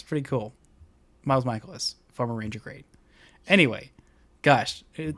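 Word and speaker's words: Mikolas: I should know how to pronounce that. He's good. Michaelis. It's Michaelis.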